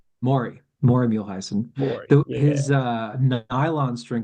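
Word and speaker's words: Maury Muehleisen: It's Marty Muehlheisen? Maury Muehlheisen. Maury Muehlheisen.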